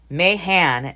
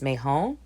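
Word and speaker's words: Mahon: to know who Dennis Mahan he says it I think he's mispronouncing his name I think it's Mejo it's m-a-h-o-n so in the notes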